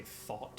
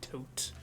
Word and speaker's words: Thoth: You know, there's like debate on how you pronounce Thoth's name. Yeah, Some people Thoth say or Thoth, Thoth. some people say Toth, some people say Thought, some people say Tote. Thoth, out of all of them, Thoth is the one that